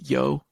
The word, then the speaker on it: Hjo: the city is called it's spelled hjo it's pronounced yo uh I just wanted